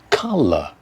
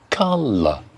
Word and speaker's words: colour: Figure, stress on the first, figure, and colour, colour. Again, American English will go colour and pronounce the final R, but in British English, colour.